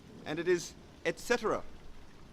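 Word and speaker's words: etc.: say etc or etc the correct pronunciation is basically how the long form of the word is spelt and it is etc etc on my holiday in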